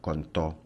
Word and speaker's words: contó: Una palabra donde el acento prosódico recae sobre la última sílaba se clasifica como una palabra aguda. Un ejemplo de una palabra aguda es la forma verbal contó.